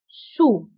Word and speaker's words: sous: وانتبهوا بالنسبة للسو كنكتبوها بأس في آخر الكلمة لكنها لا تنطق sur sous.